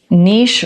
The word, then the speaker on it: niche: And one of the things he said was "Niche rhymes with quiche and quiche belongs in France."